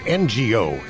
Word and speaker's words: Ngo: Go. It's NGO.